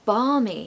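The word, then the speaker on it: balmy: my God we have the word barmy here which has a silent L and that's a lovely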